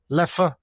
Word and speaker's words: Leffe: Either leer or le which is which leer if you're Belgian, le if you're French.